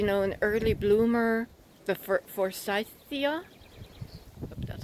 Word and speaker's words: forsythia: it's great you know an early bloomer the forsythia that's how you pronounce it um i thought it's a great